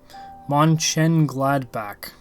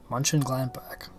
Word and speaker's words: Mönchengladbach: Mönchengladbach. Mönchengladbach.